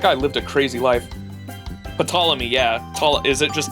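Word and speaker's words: Ptolemy: Patamy. Yeah, to Is it just Tommy? I think the P is silent, right?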